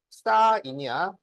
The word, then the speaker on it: sin: 그러니까 원래는 사인이야. 그런데 쓸 때는 앞에서 세 글자만 쓴다고. 어? 그래서 이거를 sin이라고 읽으면 안 돼요. 신. 아, 사인. 사인이라고.